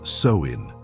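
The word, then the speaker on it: Samhain: The roots of Halloween can be traced back over 2,000 years to the ancient Celtic festival known as Samhine, pronounced soin.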